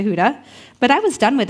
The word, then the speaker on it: Huda: could pronounce it anyways people would call me Hoda Honda Hooters not sure how some of those names are similar to Huda but I was done